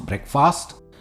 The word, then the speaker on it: breakfast: बढ़ते हैं नंबर 27 पर, और जो है बहुत ही कॉमनली मिसप्रोनाउंस वर्ड है. क्या कहेंगे? फास्ट, ब्रेकफास्ट.